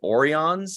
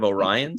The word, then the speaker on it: Orion: of our Orion remember they pronounced them like oreons in that episode instead of orions and they don't look